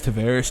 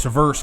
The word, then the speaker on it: Tiveres: My name is Tiveres to be to be clear. Not like John Tver. It's spelled the same. It's just Tiveres. So So he goes Traverse.